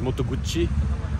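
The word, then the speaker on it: Moto Guzzi: really funny because uh in Japan they pronounce motoguti as motoguchi which sounds really weird in Japanese there's another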